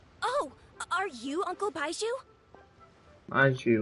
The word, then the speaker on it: Baiju: Baiju, that's how you say his name.